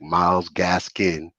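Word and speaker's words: Myles Gaskin: you think about uh miles Gaskins miles Gaskin excuse me let me say his name right he deserves that respect miles gasin uh you know he's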